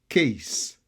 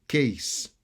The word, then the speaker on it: case: okiseau bird bird continuer case case c'est pas cas c'est case B son s case dog dog gs